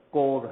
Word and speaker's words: corps: دوسرا ورڈ کوپ، ہم اسپیلنگ لیتے ہیں CORPS، لیکن اس کا پروناؤنسیشن کور ہے کیونکہ فرینچ ورڈ کور سے نکلا ہے KOR.